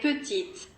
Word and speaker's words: petite: In the feminine, the last consonant of the adjective, for example the final T of petit, is pronounced. Il est petit. Elle est petite.